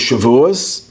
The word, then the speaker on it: Shavuos: So the first holiday is Pesach, the second holiday is Shavuos, and the third holiday is Sukkot, or Sukkot, if you use the Sephardic pronunciation.